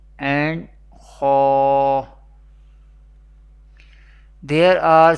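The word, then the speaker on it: خ: Ghain and Kha, pronounced from the top part of the throat.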